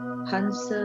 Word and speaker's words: Hansa: It is just opposite of the Soham and it is pronounced as Hans.